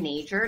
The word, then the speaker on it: Nager: stepped on you um my name is nature no one knows how to pronounce my last name so I thought I'd